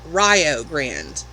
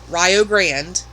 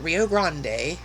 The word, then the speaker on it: Rio Grande: And as I mentioned in a previous video, in Ohio, it's Rio Grande. Rio rhymes with Ohio. That's how you remember it. Rio Grande, not Rio Grande, like a lot of people think when they see it.